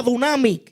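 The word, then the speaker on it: δύναμις: poder diga conmigo poder la palabra poder es la palabra griega que se pronuncia dunami y en la palabra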